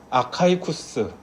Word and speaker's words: 아카이쿠스: 한 사람은 아가이고 이거는 아카이 쿠스 이렇게 발음이 되거든요 아카이쿠스이 아카이쿠스라는 것은 헬라어보다는